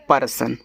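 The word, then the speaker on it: person: पी ई आर एस ओ एन इसको पढ़ते हैं पर्सन तो पी ई प अब आर और एस आपस में सटे हैं।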